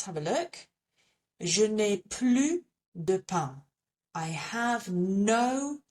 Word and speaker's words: plus: So here we do not pronounce the S. So let's have a look. Je n'ai plus de pain.